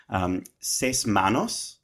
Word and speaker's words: Seis Manos: I also have been keeping up with Seis Manos. on Netflix. And Seis manos. Yeah, seis manos. I don't know how else to pronounce What it.